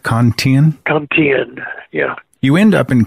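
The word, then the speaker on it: Con Thien: Cantine, yeah.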